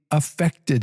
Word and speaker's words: affected: For example, the film powerfully affected him, right? Affected him. I'm pronouncing the A. I'm exaggerating that so that you can hear that.